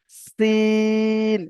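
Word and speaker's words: سين: দন্ত ন, শিন রয়েছে, তো আপনি হয়তো আহ, শিন বা আহ, এমন মানে বাংলা অনুযায়ী বলে দিলেন শিন, এমন ভাবে কিন্তু করলে হবে না। এখানে যে সিটির মতো উচ্চারণটা করে আমি উচ্চারণ করছি, এটাই আপনাকে করতে হবে।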